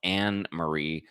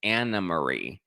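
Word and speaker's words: Annemarie: we learned her name even though it's spelled anarie her name is anamarie um or as many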